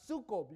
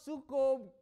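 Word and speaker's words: sukob: The word, take the belief, sukkob. You know what sukkob is? It's spelled S-U-K-O-B.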